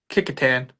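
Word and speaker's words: Kecoughtan: Um, there kickotan. Kickotan. Thank you, Will, for that pronunciation.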